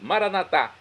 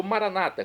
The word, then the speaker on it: Maranata: aramaico dialeto de Jesus maranat como dizemos NS católicos ou Maranata como dizem nossos irmãos separados os evangélicos ou protestantes não importa a pronúncia o significado é o mesmo vinde Senhor Jesus um